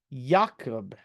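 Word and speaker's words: Ya'akov: name of a person named yakob which of course is how you say Jacob and these scarabs are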